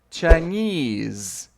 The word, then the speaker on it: Chinese: Chinese. Então, o S ele tem um som desse Z.